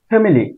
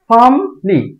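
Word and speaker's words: family: উচ্চারণ হবে বাড়ি এটাকে আমরা উচ্চারণ ফ্যামিলি এটার উচ্চারণ হবে ফামলি ফামলি ফা এর উপর একটা টান দিতে হবে এটাকে আমরা উচ্চারণ করি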